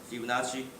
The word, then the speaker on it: Fibonacci: will be f51 plus fibonacci zero by the way this is like italian so that's really we pronounce chi not g so if you look